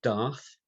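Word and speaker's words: Daath: That one in there is the 11th one, and it's called Darth, as in Darth Vader. Yeah. Well, spelled the same as well, is it? It's spelled the same, D-A-A-T-H.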